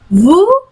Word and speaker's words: vous: Jadi vous sama juga dengan vous, S-nya nggak dibaca.